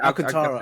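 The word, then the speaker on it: Alcântara: Yeah, Alcantara.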